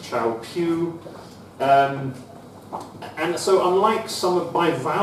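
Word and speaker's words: Kyaukphyu: blue dot on the left-hand side, which is pronounced Chao Phu.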